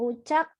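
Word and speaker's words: uçak: sini ada cek ekor Jadi bacanya cek bukan J ucap artinya pesawat ucap Hai Ucak artinya pesawat Ucak artinya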